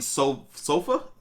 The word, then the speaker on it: Solfa: 20 guys, Jubilee and Solfa.